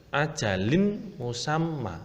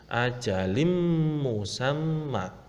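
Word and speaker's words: أجل مسمى: Tidak boleh ajalin musamma, tidak boleh, harus masuk dengan dengung. Ajalim musamma.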